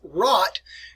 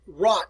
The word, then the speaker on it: Rat: And if you ever see the word Rat, and people pronounce it rat, but it's not that, it's called rot anyway.